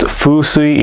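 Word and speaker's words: 風水: It's pronounced fusui in Japanese, which means wind and water.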